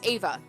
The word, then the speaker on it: Eva: mother aunt eve no it's ava ava i was told about that about certain pronunciations and then immediately i went to eva but it's more of a it's like ava she's my dad's older